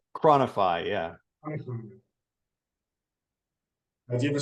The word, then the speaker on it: ChroniFI: CronFi? ChroniFI, yeah.